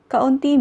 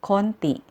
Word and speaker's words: kaunti: Kaunti means few. But native speakers pronounce this as konti.